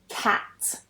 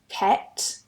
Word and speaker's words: cat: Another one is cat, cat, ket, cat.